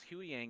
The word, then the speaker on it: Huyang: So you know who how you say is it Huyang?